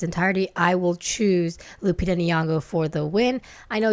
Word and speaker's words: Nyong'o: And pronounce this one for me, Lupita please. Nyong'o.